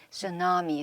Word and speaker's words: tsunami: T로 시작해서 T가 이제 silent 묵음이고 tsunami.